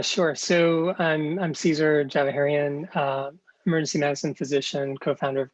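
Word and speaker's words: Djavaherian: sure it's um caesar java herrion and it's spelled c a e s a r d j a v a h e r i a n so the d is silent basically thank you now i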